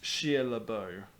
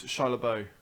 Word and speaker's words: Shia LaBeouf: I think it's pronounced Shia LaBeouf. Oh, it's Shia LaBeouf.